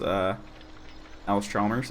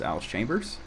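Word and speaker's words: Allis-Chalmers: I promise not to mispronounce Alice Chalmers as Alice Chambers ever again.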